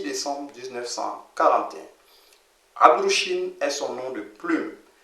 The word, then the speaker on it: Abd-ru-shin: Il s'écrit Abdou-Shin, mais il se lit Abdou-Shin.